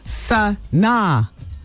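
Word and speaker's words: Sanaa: Wendy, her name is pronounced Sana.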